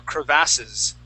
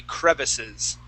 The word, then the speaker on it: crevices: Okay, some people do say crevasse or crevasses. Okay, but in my opinion, that would be incorrect. It would be crevices.